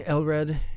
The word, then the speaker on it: Elred: Hello, my name is King Elred. Do you need me to spell that for you? Yes, please. All right. Uh, it is Lred.